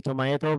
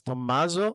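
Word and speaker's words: Tommaso: When I was in pilot training, they called me Tommato because the Americans couldn't pronounce Tommazo.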